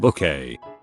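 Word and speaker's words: Bouquet: that we all knew sorry it's pronounced book a lol i love that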